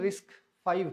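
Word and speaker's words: RISC-V: an open source technology that इ pronounce रिस्क फाइ एज I mention Iyer कि ये रिस्क व नहीं है रिस्क फाइव है आर आईएससी 5 ओपन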